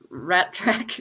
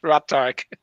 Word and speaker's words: Ratark: And what did Rat Track get? Ratark. You have to say it properly.